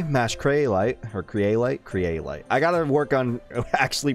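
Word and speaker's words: Kyrielight: Craylight. I gotta work on actually pronouncing that correctly, since the VR, Mash VR,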